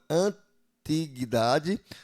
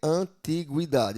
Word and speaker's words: antiguidade: A sílaba Gui pode ser pronunciada como gui, gui, né? Ó, gui antiguidade ou gui que seria antiguidade.